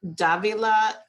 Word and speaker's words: Davila: that i tell people when you think of davila think of davio's cafe and then you'll be fine davila davio's cafe it will be super super easy um and if you